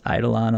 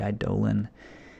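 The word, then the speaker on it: Eidolon: hateful idling and Schramm I call this idle on a lot because I think that's the first way I learned how to say it and I looked it up it's supposed to be I'd Dolan which just doesn't roll off the tongue as well but anyway I'll probably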